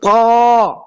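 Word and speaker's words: ت: যেমন আউযু বিল্লাহি মিনাশ শাইতানির রাজিম, এই যে ত, এই হরফটা তুয়া না, অনেকে তুয়া উচ্চারণ করে, আপনারা তুয়া উচ্চারণ করবেন না, ত, আমার সাথে বলার চেষ্টা করবেন, ত, ত, ত, ত, ত, ত।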